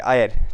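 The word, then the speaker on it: heir: तो यहाँ पे देखो एस तो है, बट यहाँ पे एस साइलेंट है, और यहाँ पे साउंड ए वाली आ रही है, आयर, ठीक है, इसको आयर पढ़ते हैं।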